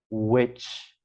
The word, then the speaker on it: witch: Bruxa is witch. Witch. She's a witch. Ela é uma bruxa. Witch. E aí lembrar que esse W sempre tem essa pronúncia de U primeiro.